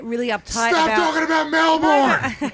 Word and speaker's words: Melbourne: uptight stop talking about Melbourne it's Melbourne Melbourne say it right right Melbourne I don't